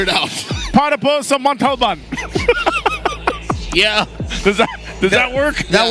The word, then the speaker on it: Montalban: How do you say Montalban? Is that right? Montalban. There you go. I'm pretty sure if you told the driver to go there, he would figure it out. Para po sa Montalban.